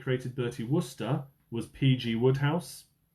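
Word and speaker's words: Wodehouse: Question eight, the author that created Bertie Worester was PG Woodhouse. It's not spelled Woodhouse, but that's how you pronounce it.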